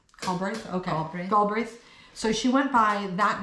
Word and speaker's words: Galbraith: Robert, how do you pronounce that though? Galbraith? Okay. Galbraith.